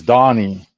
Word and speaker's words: Danny: Donnie I'm your host even though it's spelled Danny it's Donnie it's pronounced because